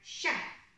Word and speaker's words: chef: to read in english also words like chef it looks like it's a ch but it is pronounced as a sh to help with this